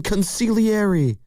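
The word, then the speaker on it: consigliere: Stop pronouncing the Gene. Consiliary.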